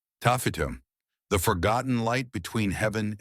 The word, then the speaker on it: Taaffeite: The stone was Taaffeite, pronounced Taaffeite, and to this day, fewer than 50 gem-quality specimens are known to exist.